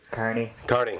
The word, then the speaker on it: Kearney: Kearney. Like a carnival worker.